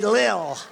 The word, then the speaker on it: Lil: pump Lil Lil I said how do you pronounce that they said Lil and a great picture for the New York